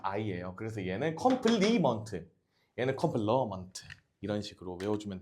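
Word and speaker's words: complement: 그래서 얘는 컴플러먼트, 러라고 읽어요. 신기하죠? 이게 발음 기호가 이렇게 들어갈 거거든? 얘는 발음 기호가 그냥 I예요. 그래서 얘는 컴플리먼트, 얘는 컴플러먼트, 이런 식으로 외워주면 돼.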